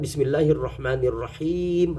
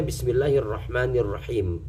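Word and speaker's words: بسم الله الرحمن الرحيم: berusaha memperbaiki setiap waktu kadang-kadang Bismillahirrahmanirrahim harusnya panjang kita membacanya Bismillahirrohmanirrohim itu tentu kesalahan fatal di dalam Fatihah itu akan batal Salat kita ketika membaca Bismillahirrahmanirrahim tidak panjang ujungnya maka itu sama dengan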